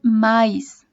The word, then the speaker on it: mas: mayoría de las veces los brasileños no la pronuncian como más dicen maíz como si fuera pero